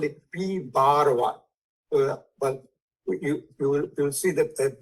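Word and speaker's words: P1̄: In many books, it is taken -1, but it means that it is pronounced as bar 1, P bar 1.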